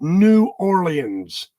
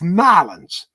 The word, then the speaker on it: New Orleans: You do not pronounce it New Orleans. That's how you do it in the West. When you're down there, you got to call it what it is. It's Nolans.